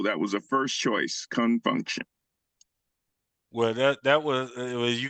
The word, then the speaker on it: Con Funk Shun: name of this song is spelled c n Fu n k hu n Confunction and they took off